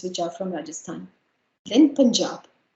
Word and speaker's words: Punjab: are from rajasthan then punjab it's called punjab not punjab punjab so you is a huge sounds as a punjab singh so as i